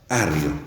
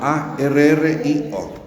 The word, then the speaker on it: Arrio: Arrio.